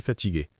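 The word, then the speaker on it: fatiguée: Ah ouais, je suis fatigué. Pour une femme, Anna, on écrit ça avec un e à la fin, mais à l'oral, la prononciation ne change pas vraiment.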